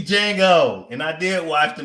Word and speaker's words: Django: So check out D Django. And I did watch the movie, and I still don't understand why the D is silent.